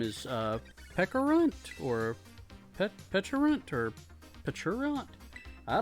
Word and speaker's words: Pecharunt: Pronounced with a K sound, like the berry. Pecharunt.